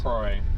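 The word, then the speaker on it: Croix: It's either Crow or Croy. Could be Croy, but I know the ax is silent. I'm not good with I'm not good with these uh French French towns. The names of these French towns.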